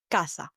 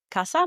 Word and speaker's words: casa: For example, the word casa. Casa means house in Spanish, a 2-syllable word, right? Casa. The emphasis is on the ka, C-A, ka, the syllable.